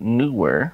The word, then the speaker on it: Neewer: newer I got confirmation that is how you pronounce it newer I always thought newer was the right way